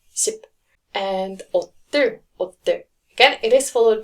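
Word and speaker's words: 십: 10 number 10 ship so it's not sip but ship and again it is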